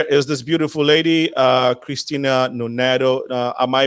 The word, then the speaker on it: Christine Nonato: next to her is this beautiful lady uh christina noneto uh am i pronouncing the name correctly yes you did excellent